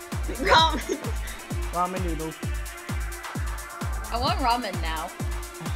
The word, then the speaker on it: ramen: have something to confess i've always been pronouncing it as raymond man raymond man oh that makes sense that's when i first thought of your name but then my sisters were like no that's wrong you're wrong also raymond is how you